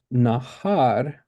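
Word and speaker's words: נהר: So, nahar, har is the second syllable, and nahal, it's the stress on the first syllable.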